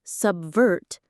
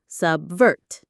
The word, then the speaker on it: subvert: That spy is trying to subvert the government. The pronunciation is simple, just two parts. Sub subvert. Subvert. The stress is on the second syllable.